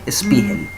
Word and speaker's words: Spiegel: el 1% de los casos las hernias de Spiegel. Spiegel se escribe S-P-I-E-G-E-L, Spiegel.